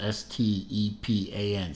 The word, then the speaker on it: Stepan: In particular, the face of the moon is supposed to be a likeness of Stepan, and that is how it's pronounced, S-T-E-P-A-N, Stepan Sarpaneva's face with a stern, quote-unquote, look.